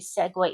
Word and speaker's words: segue: client, make sure you segue into this. This is incredibly important. This word, it's not pronounced any other way but segue in English.